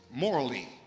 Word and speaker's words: Morley: His last name is Morley. So just think of Moore and Lee.